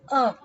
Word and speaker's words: a: are a and the even though we write it as a the right pronunciation is uh so now let's look